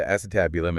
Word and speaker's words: acetabulum: remember back in anatomy class learning about the acetabulum is that how you say it yeah the acetabulum and that's that socket where your femur or